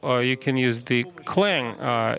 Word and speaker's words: clang: you can use the clang uh it turns out this is the right pronunciation not just not just not cang so anyway uh you